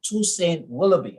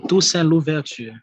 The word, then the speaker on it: Toussaint Louverture: person who did that was a guy called Toussaint Willoughby. I think, I pronounced his name correctly. Toussaint Louverture.